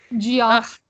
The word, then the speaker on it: Geoff: Jeff's with a G and the silent O and... Geoff.